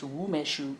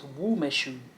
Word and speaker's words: Umeshu: Umeshu, pronounced Wumeshu. Oh, it's Wumeshu.